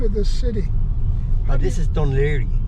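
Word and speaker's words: Dún Laoghaire: How do you pronounce the name of this city? This is Dunleary. Dunleary.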